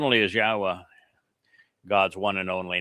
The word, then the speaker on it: Yahweh: So it is Yahweh and the beloved son writes, "Yahwah reigns by